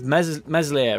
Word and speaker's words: Meslier: um the talks of mesolith right uh silent s so it got dropped